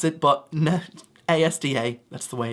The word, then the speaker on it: ASDA: Some people try and pronounce it, but no. ASDA, that's the way it's meant to be.